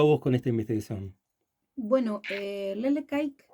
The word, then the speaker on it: Lelek Aike: Bueno, Lele Kaik, sí, supongo que se pronuncia así, yo tampoco sé, es una voz aborigen de los llamados Saunkenk, o de Ujú.